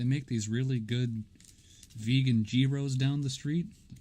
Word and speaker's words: gyro: many how many of my classmates mispronounce it it's anybody want to go get a guy room what the is a guy row you know look guy